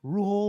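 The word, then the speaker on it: Rhule: Rule. No, you pronounced the name right.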